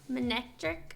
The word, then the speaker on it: Manectric: Manectric are gone?